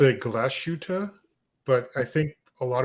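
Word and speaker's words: Glashütte: yeah um but it's you're supposed to actually hold the a longer so jenny does it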